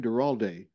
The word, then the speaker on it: Duralde: and perseverance in film Alonso forgive me if I mispronounced your last name deral day yes great Alonzo D ralde great